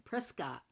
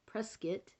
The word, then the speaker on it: Prescott: I did go to church once in Arizona, in Prescott, or as they call it, Prescott, which I think is ridiculous because the spelling is spelled Prescott.